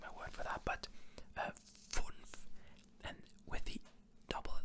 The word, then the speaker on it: fünf: But U, the U is of course pronounced differently. It's U in German, so it would be fünf. Like you have, like there's a dialect that does that. That doesn't say fun, it says fun.